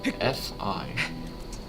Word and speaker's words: Fi: It is F-I. I've heard it said Fee, and I've heard it said Fi. I'm gonna call it Fee, because that's what sounds right to me.